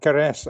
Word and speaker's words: Karrech: to you know so my name is karesh actually it's okay that you mispronounce it it's pretty common that people mispronounce